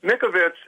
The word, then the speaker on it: Mikovits: Listen, Mikovits, it's spelled M-I-K, V as in Victor, or M-I-K-O-V-I-T-S, V-I-T-S, Mikovits.